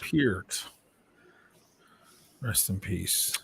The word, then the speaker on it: Peart: Yeah, it's like people who say Neil Peart, and it's Peart. Peart.